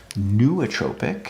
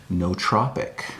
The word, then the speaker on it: nootropic: Word of the day is I've always been pronouncing it as nootropic because that's how it's spelled, but I've just learned it's nootropic.